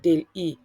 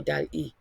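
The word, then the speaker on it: DALL-E: can consider using is Del e or Del e whichever way you want to pronounce it it's called it's a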